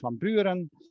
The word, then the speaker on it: Van Buren: as you see with van buren um which would be pronounced from buren the former president or van halen which